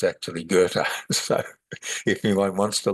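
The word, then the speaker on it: Goethe: the great spiritual philosophers called Gerta Ge T which you'd never know was Gerta but I knew a a person of German Austrian background and he assured me that's how you pronounce his And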